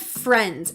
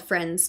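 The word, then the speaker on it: Frends: It's called Friends, F-R-E-N-D-S. So it's spelled weird, but it's called Friends, just an E.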